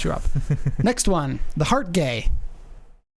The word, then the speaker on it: Hartge: Next one, the Heart Gay. It's pronounced Hartge.